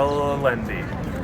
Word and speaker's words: Allende: in San Miguel de la lendi wow well that's how you say it if you're American it's San Miguel de ande if you are proper we are in